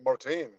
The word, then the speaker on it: Martin: But is it Martin or Martin? It's Martin. That's how I say it.